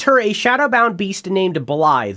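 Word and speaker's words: Blaidd: a shadowbound beast named Blythe. That's spelled Blade with two D's, but it's Blythe. I don't know, Scottish or something.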